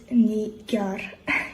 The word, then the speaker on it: Nigar: Here is a tutorial how to pronounce my name, and it is Nigar.